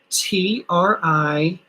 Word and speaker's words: Triplal: This material is spelled, thank you, Amy, Triplal, Triplal, P-L-A-L, plal, Triplal, because it's P-L-A-L, plal, Triplal.